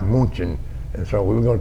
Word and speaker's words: München: Our division was going to take the city of Munich, which in German is pronounced München, and so we were going to take München.